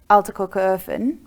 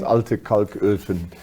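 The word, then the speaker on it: Alte Kalköfen: But continuing on then up the B1, you'll come to Altekokerhofen. Am I saying it correctly? Yeah. And that's where the coal lithoporium is, which so it's Altekalköfen, but yeah, you're quite close.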